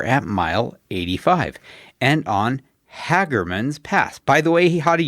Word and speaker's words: Hagerman: pronouncing it correctly, that the locals call it Hagerman, even though I maintain it is spelled Hagerman.